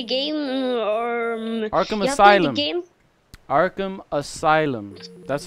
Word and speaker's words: Arkham Asylum: You seen them like Arkham and Elysium? Arkham and Elysium from Batman. Yeah, I played a game or Arkham Asylum. Game? Arkham Asylum.